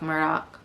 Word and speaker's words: Murdaugh: like me um but it's Alex Alec they would say with an accent um mer doc it sounds like I'm over pronouncing it if you basically say Alec Murdock it's like saying Alex murdaugh but you're saying it with this accent from the low country um Alex he has